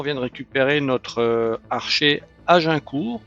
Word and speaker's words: Agincourt: Allez, bonjour à tous, on est dans Berenson, on vient de récupérer notre archer Agincourt, je vais le prononcer à la française, maintenant que j'ai compris que c'était une référence à la bataille.